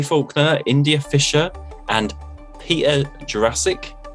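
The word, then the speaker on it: Jurasik: india fisher and peter jurassic so you say his name jurassic jurassic yeah like jurassic park this was directed by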